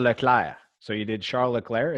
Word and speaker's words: Leclerc: And if, in Um, French, it's just the R, the difference. It's Charles Leclerc.